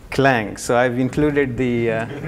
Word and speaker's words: Clang: three dot eight and some people pronounce it as si Lang it is actually clang so I've included the